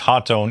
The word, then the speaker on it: Hotone: So, Hotton Tone makes some really cool stuff and yes, it is pronounced Hot Tone indeed.